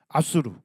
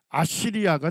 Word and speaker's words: 아수르: 성경에서 아수르 이렇게 하는데 아수르는 히브리어 발음이다 이렇게 생각하시면 되겠습니다. 아수르. 자, 근데 이걸 영어식으로 발음하면 뭐가 돼요? 아시리아가 되는 거예요. 그래서 이제 오늘날 교과서에서 영어식 발음을 주로 쓰기 때문에 아시리아 또는 아시리아 이렇게 붙이는데 히브리어 발음으로는 아수르가 되겠습니다.